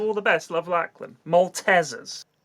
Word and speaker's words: Maltesers: So, sorry Sorry if I shattered the glass, but you're all pronouncing Maltesers wrong. It's not Maltesers, it's Malteasers.